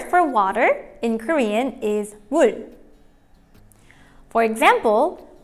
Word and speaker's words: 물: When pronouncing water in Korean, remember to start it with an M sound. The way to say it is 물.